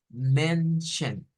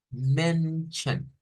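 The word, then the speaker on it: Männer: una palabra interesante aquí la vamos a leer como mention mention eso se refiere a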